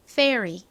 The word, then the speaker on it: fairy: 요 단어는 발음 연습 좀 해볼게요. 요정, fairy.